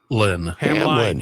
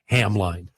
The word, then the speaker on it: Hamline: Hamline. Hamline. If I just write Hamline, I'll pronounce it every single time. Hamline. It's Hamlin. Oh, it's not Hamline.